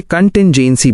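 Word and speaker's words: contingency: कंटिंजेंसी इसे कंटिंजेंसी बोलें।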